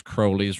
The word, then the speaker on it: Crowley: And I know some of you say his name's Crowley. His name really was Crowley. He wanted you to call him Crowley because it rhymed with holy, so I don't give him that.